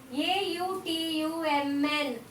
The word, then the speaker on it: autumn: Second word here it is A-U-T-U-M-N. Autumn. A-U-T-U-M-N. Autumn. What is silent in the autumn? Very good. A-U-T-U-M-N. Autumn. N is silent. The letter N is silent. We are not pronouncing the letter N sound.